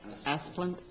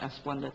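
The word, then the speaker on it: Asplundh: How do you pronounce that name? Oh, I don't, Asplund? oh, okay. I'll change how I say it. I always want to call it Asplunda too.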